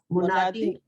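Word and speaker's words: منادى: अच्छा, उसकी स्पेलिंग में मीम, नून, अलीफ, दाल, दाल पे जबर आएगी ना, मुनादा।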